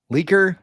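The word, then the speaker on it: Leiker: I really sorry if I but this last name but it's L E I K E R Leaker Laker. I think it's Laker.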